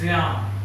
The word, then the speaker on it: Ryan: The correct spelling is R-Y-A-N, and the correct pronunciation is, Rian. it's not Rian, it's Ryan.